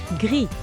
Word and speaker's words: gris: Gris. Gris. Gray. The S is silent.